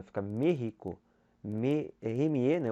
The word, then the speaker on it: México: O E tem acento agudo, mas é fechado. No espanhol não tem essa relação de ser aberto, não existe circunflexo. Mas é a sílaba mais forte, você coloca para você falar México.